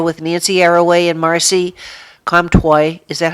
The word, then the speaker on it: Comtois: Nancy Arroway and Marcy Comtois. Is that how you pronounce her name? Twice? Well, Comtois. the Anglican pronunciation is Comtois. In French, it would be Comtois, Oh, okay.